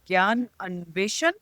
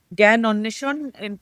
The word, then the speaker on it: Gyan Anveshan: In fact, the first newspaper they set up was called the Gyan Anveshan, Gyan Anneshon, pronounced in Bengali, which they set up in 1831.